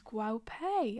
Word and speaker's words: Guo Pei: the brand who created this incredible look is Guo Pei. I hope I'm pronouncing that right.